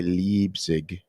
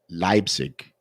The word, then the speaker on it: Leipzig: state regulations, hang on, please don't say Leipzig. Try to say it like Leipzig. Leipzig.